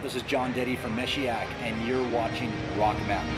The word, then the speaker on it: Meshiaak: know I that they called me so it's pronounced miss yak I'm as she act it's the name Messiah